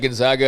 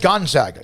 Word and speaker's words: Gonzaga: She said Gonzaga. Did you hear it was? Apparently that's how you're supposed to pronounce it. Yeah, which is it's good to know. Gonzaga, yeah.